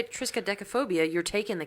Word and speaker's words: triskaidekaphobia: i wonder if this is against the rules triskaidokophobia triskai she's got a really sky deck of phobias phonetically it doesn't sound like that so i don't know phobia triskaidekaphobia really triskaidekaphobia i thought it was triska that's